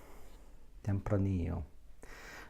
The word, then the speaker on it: Tempranillo: Tempranillo. The double L at the end is often pronounced y in the Spanish language, and in fact that is the key.